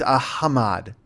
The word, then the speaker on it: Ahmad: he talked about, but apparently the 7 is pronounced like ah. The H is not pronounced like, the H is actually pronounced ah, even in a word. So like if you were to, like, you know how we have hamburgers? With hamburgers, okay. But then say you have like ghost. Here it would be ghost. Ghost. I don't know. Ghost? Is that it? Because he's Ahmad. That's how you say his name.